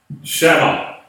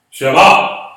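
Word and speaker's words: שמע: So when you transliterate it, it's SHAMMA. Shema. Shema. Okay. Accent on the last syllable.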